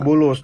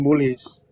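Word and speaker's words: بولس: sebagai apa ya sebagai ini bacanya juga Bulus bukan bulis ya per cerita Nabi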